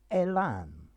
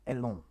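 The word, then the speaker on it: élan: in the french pronunciation it's originally a french word and that's why okay this is a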